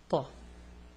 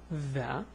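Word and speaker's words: ث: So this is a Tha, this is a Tha. You extend your tongue further outside your mouth, so it's Tha.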